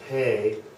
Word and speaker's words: P: And this last one is pay, like you need to pay me. Pay.